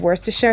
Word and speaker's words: Worcestershire: 2 tablespoons of Worcestershire sauce. Yes, I said Worcestershire, that's how it's pronounced.